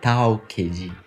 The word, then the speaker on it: talk: issoe tá vendo que eu não falei Talk o l nesse verbo não é lido e o Ed tem